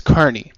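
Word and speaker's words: Kearny: email Matt Carney now the name is spelled k e a r n y I always thought it was kiery but apparently it's Carney like you know circus folk yeah and the title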